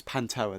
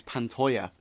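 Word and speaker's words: Pantoja: was like yeah yeah it's panoa that's how it's spelled no it's pantoya that's how Bruce Buffer was saying it at least pantoya yeah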